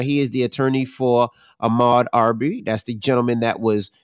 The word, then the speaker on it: Ahmaud Arbery: I want you to tell us what's happening with this, and correct me if I'm mispronouncing the brother's name, Ahmaud Arbery? That's it, Ahmaud Arbery.